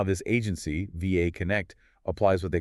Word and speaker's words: VA Connect: We're looking at a South African managed agency called VA Connect and that's pronounced VA Connect saying the letters correct VA Connect.